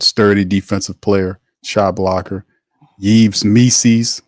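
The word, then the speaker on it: Yves Missi: defensive player shot blocker yees me rhymes with rees's like DC says and he's a guy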